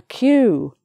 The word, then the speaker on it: queue: Q, if you say the letter Q, it sounds like the word. That funny word, where people stand in a line waiting for something, maybe in a shop, waiting to be served. They're in a queue.